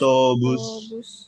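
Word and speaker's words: автобус: Autobus. Nah, di sini kita pakainya V, tapi kita bacanya seperti F ya. Ini banyak yang seperti ini ya. Jadi bukan bacanya V, bukan autobus, tapi autobus.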